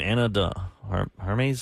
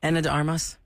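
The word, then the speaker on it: Ana de Armas: Anna Hermes or how do you say her name? Anna de Armos.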